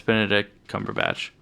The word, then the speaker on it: Benedict Cumberbatch: It's Benedict Cumberbatch.